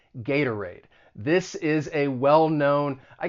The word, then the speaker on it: Gatorade: market themselves but gatorade that t i'm gonna use a flat t and that second syllable i'm gonna use the schwa that uh sound gata raid gatorade and the same goes